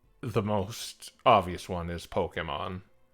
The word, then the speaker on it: Pokémon: Ignore the E in Pokemon. It's yeah, I think that's a little advanced for you. It's a common misconception. A lot of people pronounce it Pokemon or when it's Pokemon. And that's what that little accent above the E signifies.